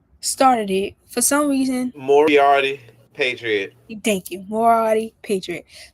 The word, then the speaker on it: Moriarty: I think I'm pronouncing it wrong. What's the word? You know it. You is well, Marathi. Marathi the Patriot. Um, well, yeah, that's the show. I started it for some reason. Moriarty, Patriot.